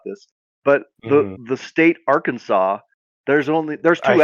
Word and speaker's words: Arkansas: But what happens to that S? Cuz you don't say Arkansas.